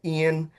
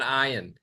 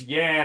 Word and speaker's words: Ian: The worst worst pronunciation I ever heard was Yan and that was in Quebec because they didn't quite get the I but it's fine.